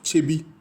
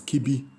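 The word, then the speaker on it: Kyebi: the Akyem Abuakwa town, capital town of Chebi, or otherwise also known as Kibi, as it's spelled by the British or pronounced by the British.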